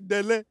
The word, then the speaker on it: Dele: Is it not Dele? Dele. Dele. That's how you say it.